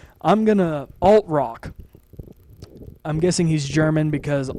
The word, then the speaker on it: Altrock: I hoped you enjoyed it as I did, and especially with Nick Altrott. Altrock. I'm guessing he's German because alt in German is spelt with A-L-T.